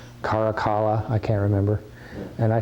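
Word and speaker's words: Caracalla: then the baths of i always thought it was karakola but my pronunciation guide says karakala i can't remember and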